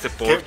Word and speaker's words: Porsche: Pero cuando te explican por qué Dick tiene tanto apego al Porsche, dices, con razón, Porsche. Qué bonito que lo pronunciaste bien.